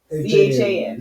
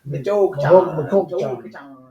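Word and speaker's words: Michoacán: Yeah, it's an Michoachan. Some of you. Michoacan.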